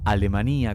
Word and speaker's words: Alemania: tierra estación alemania salta 'alemania con acento en la y como lo pronuncian los salteños es un hermoso pueblito